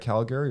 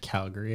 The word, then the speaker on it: Calgary: Was he just at Calgary, or is he at Calgary right now?